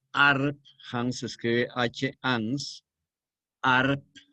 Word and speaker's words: Arp: Hans se escribe H-Hans, Arp con P, así como suena Arp, y otros, pero por